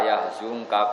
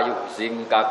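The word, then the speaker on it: يحزنك: Tapi kalau Imam Nafi' bacanya fala yuhzinka qauluhum. Jadi ngikuti mutaaddi karena mazid apa? Ikutkan wazan apa? Ahzana yuzinu. Tapi kalau kita ngikuti qiraah yang khazana yuzinu sudah mutaaddi apa? Binafsi. Makanya kita bacanya fala yahzunka qauluhum bukan fala yuhzinka.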